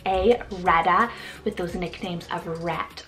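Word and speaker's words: Rhetta: Reda spell r h e t t a Rada with those nicknames of rat or even Etta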